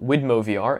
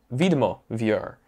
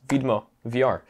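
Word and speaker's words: Widmo VR: believe it or not i actually found out that this is polish this comes from poland and i am polish so this is not widmovr it's videmo vir um yeah so that's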